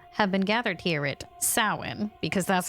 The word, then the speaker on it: Samhain: And so, those people have been gathered here at Samhain, because that's how you pronounce that word, where and when the veil is thinnest, to see if that is true.